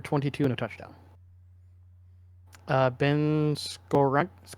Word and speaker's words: Skowronek: Ben Skorank. Skowronek? I know how to say it. Skoranek.